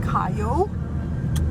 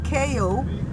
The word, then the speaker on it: Cayo: So we're in Cayo, not Cayo, like the Americans say.